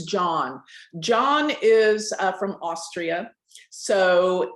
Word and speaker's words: Jean: a very special guest jean nolan well actually it's not gene i keep saying that it's john john is from austria so in europe you know j-e-a-n is pronounced john okay so it's john